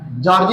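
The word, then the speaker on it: Giorgi: Gionee Gionee है ना गी ग जॉर्जी भी कहते हैं। है ना जो भी पढ़ लीजिएगा जियोनी जॉर्ज जिओनी जिओ वेनी जॉर्ज है ना आई साइलेंट होता है जॉर्ज जिओनी जॉर्ज ने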